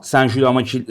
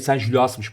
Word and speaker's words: Saint-Gilloise: Sen Jul, Sen Julas maçı, Sen Julias'mış bu arada. Sonraki okunuyormuş.